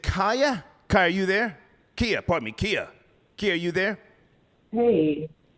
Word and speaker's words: Kia: K-I-A, is that how you Is that pronounce a it?